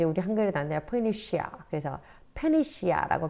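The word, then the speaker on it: Phoenicia: 자, 그다음에 이 포에니키아라고 이제 우리 한글에 나는데 페니시아. 그래서 페니시아라고 발음합니다.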